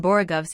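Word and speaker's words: borogoves: rhyme with groves again the first o in borigovs is pronounced like the o in baro i have heard people try to give it the sound of the o in worry such is human perversity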